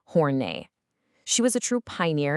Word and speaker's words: Horney: Today we are diving into the incredible work of Karen Horny. And let's get this out of the way right up front. It's pronounced Hornet.